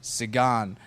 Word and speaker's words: Sagan: I think it's actually better than the Sagannator, because, Sagan, like a lot of people having trouble pronouncing his name correctly, it's actually Peter Sagan.